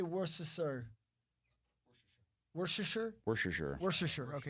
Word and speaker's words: Worcestershire: Worcestershire? Worcestershire. Worcestershire. Okay. Worcestershire.